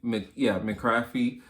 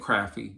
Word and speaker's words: McCaffrey: McCaffrey. I said Crafty.